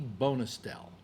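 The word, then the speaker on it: Bonestell: I'm sure if you type in the name Chesley Bonestel, that's Bonestel, Chesley is the first name, Chesley, okay, Chesley Bonestel.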